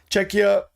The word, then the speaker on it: Czechia: It's pronounced Czecha.